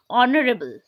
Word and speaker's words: honorable: we don't make or we don't uh use the sound of H we make it silent okay so the word